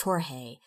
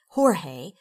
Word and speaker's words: Jorge: tomorrow I told him a guide named George in Spanish it's pronounced Jorge Jorge Chuck is taking me